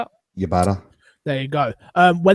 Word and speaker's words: Ybarra: Ybarra.